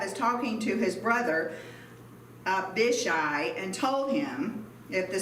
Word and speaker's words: Abishai: It's pronounced Abishai, to confront the Ammonites.